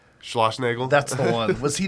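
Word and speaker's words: Schlossnagle: coach there how do you say his name Schloss Nagel that's the one was he there already I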